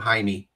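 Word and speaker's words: Jaime: got a friend named Haimey. Yeah. So I'll say Jamie and he'll go, "It's ha."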